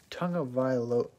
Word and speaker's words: Tagovailoa: Never heard of a silent N before, but I think it's Tagovailoa. That's what I've heard people pronounce it.